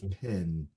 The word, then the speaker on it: pen: the pen is technically the correct pronunciation if you look it up in a dictionary. It's p-e-n, but we say in Memphis p-e-n. So it's pin, like a pen, like a Google pen,